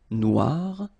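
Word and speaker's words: noire: it's quite funny because you will have to add this uh at the end of noir for the feminine form but then you don't pronounce it okay so phonetically it is exactly the same noir noir okay g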